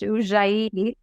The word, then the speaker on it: Ujjayi: And by the way, it is pronounced Ujjayi.